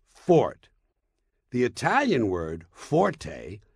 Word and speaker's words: forte: point is not pronounced Forte got that it's pronounced Fort the Italian word Forte f o r t used in music notation